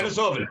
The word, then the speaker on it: Denisovan: There's a big one in Russia, I think, called Denisovan, or I'm not sure if I'm pronouncing it right. Yeah, Denisovan. That's exactly right.